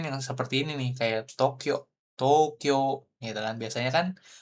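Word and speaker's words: 東京: Tapi kalau secara hiragana dia ada U-nya dua kali. U di sini sama Kyo, U lagi di sini di belakang gitu. Secara hiragana Tokyo gitu ya. Tapi bacanya Tokyo. Jadi agak panjang O-nya. Seperti itu.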